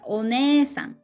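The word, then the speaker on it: おねえさん: are some words like literally older sister ornesan that's with e after ne there's sang long vowel with a so it's written literally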